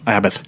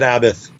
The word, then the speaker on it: Abbath: I call it abb. I've always said abbith. Like Sabbath without an s.